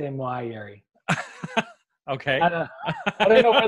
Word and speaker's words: Moayeri: Moayeri is the proper way, but Moayeri. I also go with Moayeri. And my cousin always says, if people can say Fiona, they can say Moayeri.